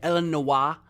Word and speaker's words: Illinois: It's kind of spelled It's spelled the French way. Elen Noa because you don't pronounce the S.